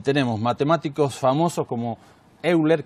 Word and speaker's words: Euler: tenemos matemáticos famosos como euler que es el nombre castellanizado que se pronuncia hoy loro el matemático más importante